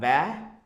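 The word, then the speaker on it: ب: alif we can do that like alif then ba it's a it's called ba ba then it's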